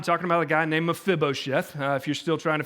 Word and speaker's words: Mephibosheth: So last week, we spent some time talking about a guy named Mephibosheth. If you're still trying to figure out how to say it, Mephibosheth, Mephibosheth, Mephibosheth.